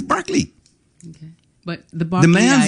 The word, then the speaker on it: Berkeley: It's spelled Berkeley. It is Berkeley. Okay. But the The man's Barkleyites, name I'm was not- Berkeley.